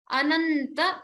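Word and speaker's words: अनन्त: Ananta, stress on the Ta.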